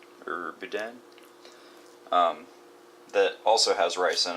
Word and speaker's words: boudin: from down in Louisiana called, I think it's pronounced boudin, or boudin, that also has rice in it.